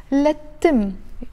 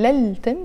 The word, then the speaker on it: للتم: I'm pronouncing it lettim, but we write it lel-tim, but because tim starts with the letter t, which is a sun letter, so we don't pronounce the il, the lam and the il. So instead of saying lal-tim, we pronounce it lettim with a shadda on the t.